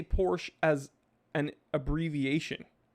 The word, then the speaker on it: Porsche: arnold schwarzenegger is it porsche is it porsche or porsche uh i say porsche and in german it's like porsche it's not porsche it's porsche so but also you know